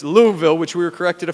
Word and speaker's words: Louisville: It is one syllable, Louisville. It is not Louisville, it is not Louisville, it's Louisville, which we were corrected a few times earlier today.